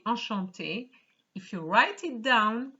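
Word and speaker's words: enchanté: french it's ashanti so whether it's masculine or feminine it is the same pronunciation but remember ladies when you actually say enchante if you write it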